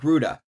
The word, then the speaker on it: Rutte: I looked up the pronunciation of his name because I know it's not normal. I believe it's Mark Rutte. Sorry, I was just making sure I was getting that right.